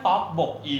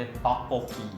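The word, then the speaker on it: 떡볶이: พยา หน้า เป็น ตัว สะกด ก ไก่ เสียง หนัก มัน จะ ทำ ให้ ตัว ต่อ มา ที่ เป็น บ ใบ ไม้ เนี่ย เพี้ยน กลาย เป็น บ ปลา อัน นี้ เป็น เรื่อง ของ หลัก การ ออก เสียง ค ภาษา เพราะ ฉะนั้น ต๊อก บก อี จะ ต้อง ออก เสียง เป็น ต๊อก โปกี ต๊อก โปกี ใช่ ต๊อก โปกี นะ ครับ ต๊อก โปกี เนี่ย มัน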